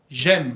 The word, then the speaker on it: j'aime: J'aime. Vous savez, quand vous dites votre âge, vous dites j'ai 20 ans. Tengo 20 años, ¿no? Et j'aime, es la misma pronunciación que tengo.